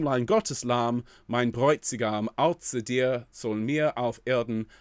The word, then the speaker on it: Außer: That little symbol there that looks like a capital B, that's the SZ, and that's pronounced with quite a harsh tss at the front of the mouth.